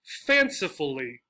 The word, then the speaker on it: fancifully: And again, 4-syllable words, possibly even 5 or more, that end in this suffix will get stressed on the first syllable, right?